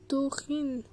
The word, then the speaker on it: Dorine: Dans le premier épisode, je savais pas comment prononcer le nom de la meuf parce que c'était écrit. Voilà, je savais pas si c'était un Y ou un N. Mais en fait, c'est Dorine.